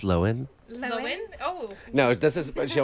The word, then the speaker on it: Lohan: of the show yes what okay to lindsay lohan okay tour girl live it's pronounced lowen oh no it doesn't she always does that